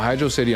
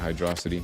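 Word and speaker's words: Hydrocity: I'm pretty sure one of the developers came out and said that it's literally hydro city and and they that we're all stupid for pronouncing it hydroity.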